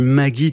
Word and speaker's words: Maguie: Ouais donc Maggie ça s'écrit je l'ai un peu francisé hein. M A G U I E.